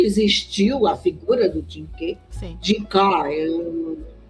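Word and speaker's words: Jing Ke: Jinka, no chinês eles pronunciam K.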